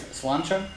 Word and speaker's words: Sláinte: Irish whiskey, but so, to say it correctly, is Sláinte? Sláinte, yeah. Sláinte. Okay, so... It's spelled sort of slanty.